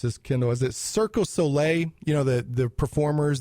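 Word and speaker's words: Cirque du Soleil: if I missed pronounce this Kindle is it circos solle you know the the performers the acrobat people it's like circus solle or something like that that's actually correct yeah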